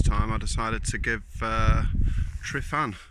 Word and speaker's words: Tryfan: I decided to give Sri fan a go Shrove and whichever way you want to pronounce it I think trevin's the right way of pronouncing it but regardless I